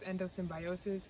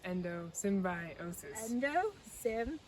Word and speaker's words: endosymbiosis: It's actually pronounced endosymbiosis, endosymbiosis.